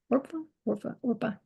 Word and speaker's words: Orpah: Orpah. Rhymes with Orca.